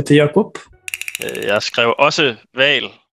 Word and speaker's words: hval: Jag skrev också val. Lägg märke till att vi på dansk har ett stumt H föran som kan förvirra riktigt många när man ska stava till val.